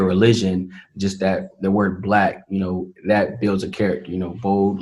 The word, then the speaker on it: BLXCK: So for those who don't know, Black Clothing Company is spelled BLXCK, which stands for, it's kind of like an equation.